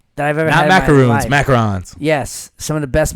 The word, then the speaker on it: macaron: um macarons yeah that I've ever had macaroons macarons yes some of the best macarons I've ever had and that's how I learned the the pronunciation of it both cuz I would always say macaroons yeah I used to say but the macaroons